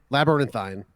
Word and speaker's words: Labyrinthine: game studies studios go check out uh labyrinthine labyrinthine that's how you pronounce it um and shout out to stephen